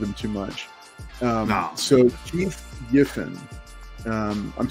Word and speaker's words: Keith Giffen: So Keith Giffen, I'm saying it right? Keith Giffen.